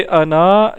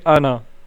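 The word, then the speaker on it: أنا: note कर लें कि अना नहीं पढ़ना इसको नून के आगे अलिफ तो है लेकिन यह पढ़ा नहीं जाता यह साइलेंट होता है ठीक है इसे हम पढ़ेंगे आना सही है नून को लंबा नहीं करेंगे अच्छा यह जो है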